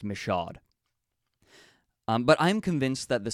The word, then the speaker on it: Michaud: is from Mike Michaud that's how it is pronounced by the way I had to learn it after the fact but it's pronounced Michaud but I'm convinced that